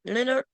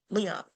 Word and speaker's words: Leon: Leonard? It's not Leonard. It's Leon? Leon.